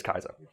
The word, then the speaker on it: Caesar: It just says in English it's pronounced with a soft C, but the original Latin is pronounced similar to the German word Kaiser. Yeah, Julius Caesar.